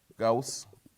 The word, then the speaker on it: Gauss: à l'arithmétique, Euclide, Fermat, Gauss, ou Gauss, comme on prononce à la française, hein, etc.